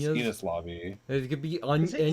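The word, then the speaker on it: Enies Lobby: Like, Well, the way it's pronounced in the anime is Innis lobby.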